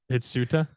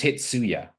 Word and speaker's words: Hitsuya: Hitsuta? That's not a T, that's a Y, Paul. It's Hitsuya. Hitsuya.